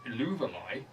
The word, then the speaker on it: Eluveitie: I'm instead going to recommend a band called Illuvalai. Illuvalai? Yes. Which is spelled, this is going to be fun, Eluveitie, which does not sound like it's spelled.